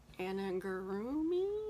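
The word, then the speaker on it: amigurumi: So this last weekend, I watched videos on Anangurumi, is how you say it, and taught myself how to make some these parts to go on here.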